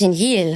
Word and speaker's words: Danielle: Danielle I know I I literally pronounce my own name wrong but it's Danielle but everyone's like Danielle I'm like that's just you say it like Danelle do I say like Danielle like French almost Danelle Danel what about Danielle